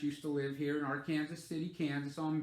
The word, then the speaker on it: Arkansas City: And it's spelled Arkansas City, but it's Arkansas City, Kansas. There was a movie star back in the 50s and 60s, I believe.